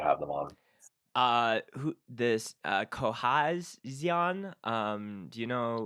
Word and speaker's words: Cohezion: Who this Cohezion? Do you know? Cohesion, I think they pronounce it or something. I don't know why there's a Z in there.